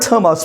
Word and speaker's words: Thomas: Even though the word Thomas begins with a TH sound, but still American pronounce it like a T sound.